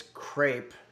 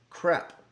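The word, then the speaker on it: crêpe: The correct pronunciation if you're uh trying to take it seriously is crepe. Um, this is the way they pronounce it in France and also in French Canada and in parts of Louisiana.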